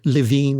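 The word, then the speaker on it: Lewin: Some of the biggest names in psychology, Kurt Leuen or Lavine as it's sometimes pronounced back in the 1930s talked about this.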